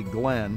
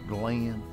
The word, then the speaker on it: Glenn: goes hey glenn and he pronounced my name in two syllables kind of the way i was raised to hear it he didn't say glenn he said glenn he goes you know